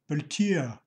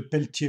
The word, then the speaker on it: Peltier: use a Peltier module what you may say Peltier but I won't miss an occasion to pronounce one word with a correct accent in this video so we will use a Peltier module featuring the pelty